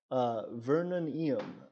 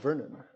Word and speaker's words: Vernonium: Government of Vernonium says, my country is pronounced as Vernonium, but that is the more formal way of saying it. It's usually just Vernon.